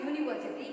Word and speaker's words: university: When you pronounce university, you are getting Y sound here.